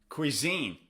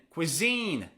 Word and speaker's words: cuisine: Cuisine. Where's the stress? Is it on the first syllable or the second syllable? Cuisine or cuisine? Cuisine. It's on the second syllable.